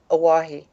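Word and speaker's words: Owyhee: they want to build is it hawaii oh w YH e yes hawaii right that would put three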